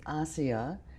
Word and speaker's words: Asiya: So the name is Asiya, A-S-I-Y-A, and the last name is, which is spelled.